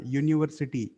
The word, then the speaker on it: university: But it is pronounced like a consonant. बघा याच्यामध्ये य हा साऊंड आहे. युनिव्हर्सिटी.